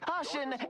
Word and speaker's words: Caution: The Great Caution, Emperor of malViolence! The Great... Okay, so it's just pronounced caution.